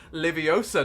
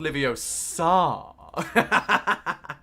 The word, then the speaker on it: Leviosa: 99 super duper chat leviosa not livio sar the greatest harry potter quote of all time it has to be said have to put the correct emphasis on the correct syllable syllable emphasis is very important um let's found this